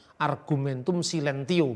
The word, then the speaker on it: argumentum silentio: Atau kalau bahasa Latin dibacanya argumentum silentio, bukan silent bahasa Inggris ya.